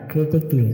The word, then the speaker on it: critically: থাকবে, যেমন আর্টিস্টিকলি ARTISTICALLY আর্টিস্টিকলি মানে শৈল্পিকভাবে, CRITICALLY ক্রিটিকলি মানে সমালোচনামূলকভাবে। এখানেও সি এর পরে এই লেটারটি সাইলেন্ট থাকবে।